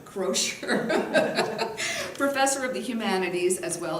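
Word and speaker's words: Croushore: Professor Sid Smith is the Mary Fair, how do you pronounce her name? Crozier.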